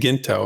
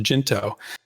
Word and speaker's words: Jinto: So the Jinto, I've been saying Ginto, and it's good to know that because he clarified it's actually pronounced Jinto.